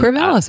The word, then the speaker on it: Corvallis: And if you're in, how do I say, Corvallis, Oregon? Or Oregon? Corvallis, Oregon.